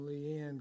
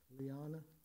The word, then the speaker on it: Leanna: With that, Leanne, would you come and read? I pronounce her name Leanne because I'm from Texas, but actually it's pronounced Leanna.